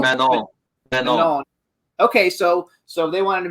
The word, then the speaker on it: Manon: I don't know how you pronounce it. Mignon. Manon.